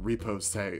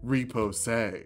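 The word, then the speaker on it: riposte: step on your enemy someone said it's pronounced repo say so repo say we're french now eleventh level fighters get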